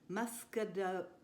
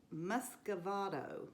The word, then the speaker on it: muscovado: for 75 grams of light muscado muscovado muscovado i even practiced that i had alexa